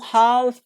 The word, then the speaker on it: half: So L isn't pronounced. In come, like we say come, palm, some, half, okay, and cuff.